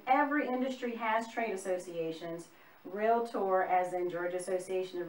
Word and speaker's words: Realtor: growing up you clap realtor realtor tomato tomahto same deal it's two syllables not real lessor it's not three syllables that's just some information